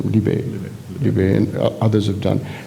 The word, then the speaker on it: Libet: all the things that these current, is it Libet? How do you pronounce his name? Libet.